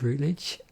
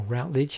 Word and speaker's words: Routledge: in 1863 by george rutledge or routledge however you want to say that suppose it's yeah depends how you pronounce root or route um specializes in providing